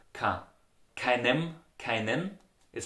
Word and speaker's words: keine: So if you look at the word kein, keine, it's pronounced in Austria dialect ka.